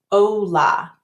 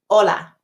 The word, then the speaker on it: hola: Too many students say it like this, hola. They move their lips, hola. I'm exaggerating a little bit, but to make it sound in Spanish, we want to say, cut off that O short, hola. See how I didn't have to move my lips at all to make the O sound?